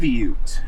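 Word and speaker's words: qiviut: And I'm going to mispronounce the name. Kibute. Kivute.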